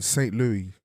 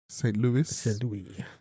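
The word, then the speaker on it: St. Louis: well today I mean Saint Louis Saint Louis St Louis however you want to pronounce it Americans well they say St Louis Missouri you guys butcher that's it you can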